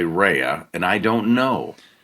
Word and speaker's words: Rea: Walter Cronkite, they finally determined that Chris R.E.A. is pronounced Rhea.